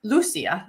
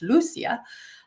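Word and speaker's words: Lúcia: me quickly and LU Lucia I have some friends in Portugal who told me that's how you say her name in Portuguese Lucia uh was told this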